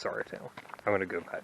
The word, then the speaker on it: Sauratown: around the curve here the uh sour town or sarah town mountain i watched and apparently there are people that pronounce it both ways so i think it's sorry town i'm going to go